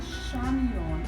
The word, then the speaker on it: Chamion: address for the business which is go by shamon all common letters my first name is spelled c h a m i o n at gmail.